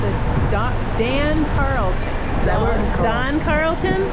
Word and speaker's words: Dann Carlton: do Dam Carlon that Don Carlton Don Carlton it says Dan it's Don okay it's spelled Dan but pronounced Don got it oo look